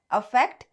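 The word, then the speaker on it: affect: जो ए से स्टार्ट होता है अफेक्ट, जो ई से स्टार्ट होता है इफेक्ट।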